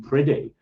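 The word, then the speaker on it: Priddy: definite as sure as our Lord was in pridy um p r i d d y I think you pronounce it um It's seems to be that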